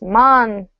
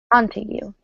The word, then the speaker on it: Montague: This last name is pronounced Montague. Montague.